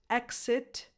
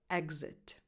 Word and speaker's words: exit: There are some English words that, depending on the specific accent, can be pronounced either with X or X sound, such as exit, exit. Both correct.